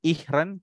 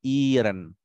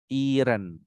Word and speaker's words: ihren: z dan hari Tengah Jangan dibaca Bukan ihren tapi Iren seolah-olah panjang ya Iren Oke good seperti ini